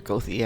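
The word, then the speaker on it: Goethe: in chicago g-o-e-t-h-e okay in chicago it's pronounced gothie ah can you take me down to gothi street or go the avenue and everybody would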